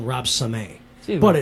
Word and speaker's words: Samay: supposed to be more like Samay, like Sambora. Okay. But I've always called him Rob Samay.